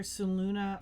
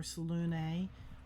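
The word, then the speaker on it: Selûne: Yeah, the second E in Salune is more pronounced like an A. So it's either Saluna or Salune. Both are correct.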